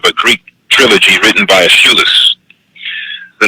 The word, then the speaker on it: Aeschylus: the interpretation of a Greek trilogy written by Aeschylus. The name of the trilogy is called the Orestia. The Orestia. It's spelled O-R-E-S-T-E-I-A. It's written by Aeschylus, or Aeschylus.